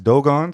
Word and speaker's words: Dogon: So I used to call it the Dogon Tribe, but it's Dogon.